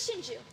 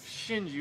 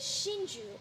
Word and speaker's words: Shinju: we're here on business shinji what's that mean don't all japanese names have a meaning it is shinju and it means a